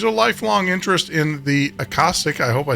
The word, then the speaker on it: Akashic: Akashic.